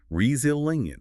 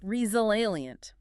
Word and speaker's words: resilient: Notice the Z sound this makes here. Resilient. Resilient.